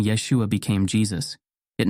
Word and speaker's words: Yeshua: video pronunciation of Yeshua in Hebrew and Aramaic Yeshua Yesa pronunciation of isus in Greek Yus Yus pronunciation